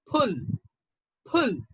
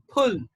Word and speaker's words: pull: you about this one this in british english will be pronounced as pull and in indian english it is okay so there is a kind of aspiration uh the british they speak in a different way so they will say pull pull and we indians say pull pull so it's like pop and it's like so pull pull this one is full